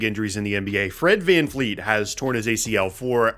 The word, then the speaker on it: VanVleet: to get really mad if you said Fred VanVleet, as in like a fleet of ships, rather than VanVleet.